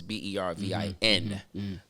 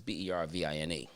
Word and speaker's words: Bervin: And so from that point on, as an artist, I always took the E off of my name, so it's Bervin. But my government name is Bervine.